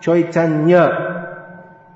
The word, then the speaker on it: Chaitanya: Bengali, as in Chaitanya, when N is followed by Y, instead of saying Nya, Chaitanya, the Y is not pronounced, but the N is held a little longer. See if you can do it. It's not Chaitanya, Lord Chaitanya. It's not, the Y is dropped, but the N becomes Chaitanya.